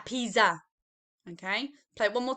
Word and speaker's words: pizza: our pizza okay but i don't think we're going to pronounce the zed sounds let's listen carefully now pizza la pisa okay play it one